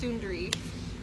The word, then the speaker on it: Sundari: spelled son da RI son dari but it's pronounced Sundari it's been like I'm up I'm Sundari and here in India a lot they're like